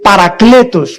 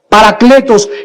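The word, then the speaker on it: παράκλητος: Esta palabra consolador es una palabra que en el original griego se escribe parakletos, con K, parakletos, que significa alguien que es llamado junto a alguien para poder consolarlo, fortalecerlo, animarlo e impulsarlo a seguir viviendo.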